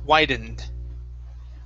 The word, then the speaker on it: widened: instead of widened okay this e right here is not pronounced okay wide end widened widened now make sure